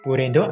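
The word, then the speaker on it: ブレンド: Burendo adalah pelafalan Jepang dari kata blend dalam bahasa Inggris, dan blend coffee sendiri adalah menu khas dari kafe ini.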